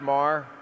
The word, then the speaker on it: Maher: doing thank you uh it's pronounced Mar but I'm still really